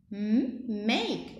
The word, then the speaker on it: make: Make. When I see the E here, it's a magic E. It lets me pronounce letter A as A, not A.